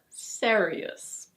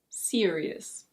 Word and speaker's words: serious: It's not "seh-ree-ous". In British English it's: serious.